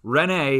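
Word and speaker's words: René: how we pronounce him renee is his first name and uh typically you would have an accent on both those e's in his first name so they would be long vowels rene yeah but descartes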